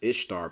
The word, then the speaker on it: Ishtar: And it says here, this is Ishtar, pronounced Easter.